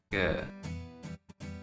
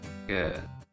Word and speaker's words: 个: It's pronounced in Mandarin, ge, ge.